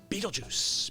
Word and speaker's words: Betelgeuse: his right shoulder the home of star called beatlejuice beatlejuice beatlejuice one of the brightest stars in the sky Betelgeuse which yes it is pronounced like Betelgeuse it's